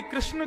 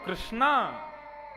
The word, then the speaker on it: कृष्ण: इसीलिए कृष्ण शब्द का जो लोग कृष्णा उच्चारण करते हैं वे सावधान रहे क्योंकि यदि मुक्ति मिलेगी तो